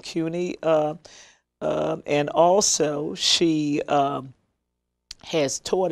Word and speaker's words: CUNY: Is that correct pronunciation? Yes. CUNY.